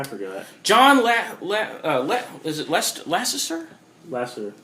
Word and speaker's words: Lasseter: his name i forgot john is it lest lassister lesser lasseter thank you i could never pronounce his name last name the one he's